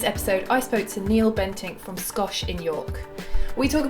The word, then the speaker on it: Bentinck: Bentinck.